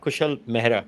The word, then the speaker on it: Kushal Mehra: love to welcome to the show tonight uh kushal mahra am I pronouncing that correct it's mea kushel mea hey Clyde thanks for having me over Namaste